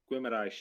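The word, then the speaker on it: Guimarães: summer yeah but yeah guimaraesh is definitely definitely it's a mirage there we go yeah yeah um it's like it's like it's like you say it with a w after the g and that's how you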